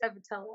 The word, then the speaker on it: Cevetillo: And my last name is pronounced Cevetillo. It's very Italian, but you don't have to butcher it. So the I kind of sounds like an E then, basically, because when I said, I thought it was like Yeah.